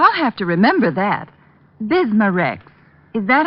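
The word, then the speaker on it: Bismarex: slowly ease up that gastric distress and finally bismar X leaves a soothing protective covering on irritated stomach membranes well I'll have to remember that bismar Rex is that how you say it that's right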